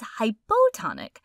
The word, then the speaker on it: hypotonic: We say side A is hypotonic. Hypo rhymes with low, which helps me remember that it's the low solute concentration when compared to side B.